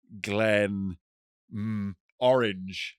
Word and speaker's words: Glenmorangie: It would make more sense for it to be written Glen Orange right.